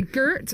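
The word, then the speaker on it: gert: Girt Lush gir so you say Girt it's spelled g e r t and then Lush Lush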